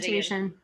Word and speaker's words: Plantation: Plantation. Yes, you pronounced it correctly.